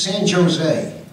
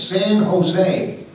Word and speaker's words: San Jose: you going he says San Jose I said San Jose that's said California he say yeah I said no they they don't pronounce the J it's San Jose oh I see I